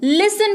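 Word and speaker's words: listen: देने की जरूरत है इसकी स्पेलिंग होती है एल आई एस टी ई एन लेकिन इसको लिस्टन नहीं पढ़ते हैं ठीक है आप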